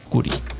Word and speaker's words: Khoury: Hoy tengo como invitado a Miguel Curi. Lo puedes encontrar en Twitter como @Curi. Miguel Curi se escribe @KHOURY.